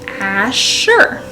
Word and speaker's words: Asher: And it's pronounced Asher. Really straightforward. Again, the way the name is spelled is how it should be pronounced, and so I don't see too much confusion with that name.